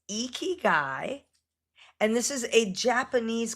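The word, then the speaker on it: 生き甲斐: Um, it's pronounced eeky guy.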